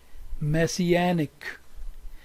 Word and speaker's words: messianic: secondary stresses are shown this word is messianic this is primary stress anak and here is secondary stress messianic say with me messianic second word is mestiza